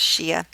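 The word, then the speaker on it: Shiite: only see ya see I can also be written as Sh I ite but both of them are pronounced Shia this is a really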